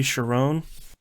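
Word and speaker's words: Charon: get to see uh they pronounce it in this movie sharon there's like three pronunciations for this the this mythological character i pronounce it k-ron and i'm gonna keep doing it that that way i'm sorry um that's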